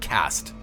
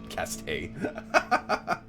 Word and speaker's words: caste: Where I come from, we call it cast, actually. Caste. I call it cast, thank you very much.